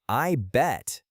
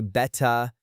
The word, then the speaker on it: I bet: For the pronunciation, the T at the end of bet is what we call a stop T or a glottal stop. You do not release the air. You do not say "betta."